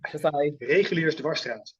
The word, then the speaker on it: Reguliersdwarsstraat: Reguliersdwarsstraat.